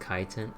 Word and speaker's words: chitin: And that's pronounced chitin.